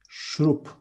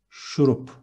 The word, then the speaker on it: şurup: Next one, syrup is şurup. With ş in the beginning, şurup.